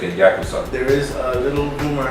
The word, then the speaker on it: Yakuza: Yakuza.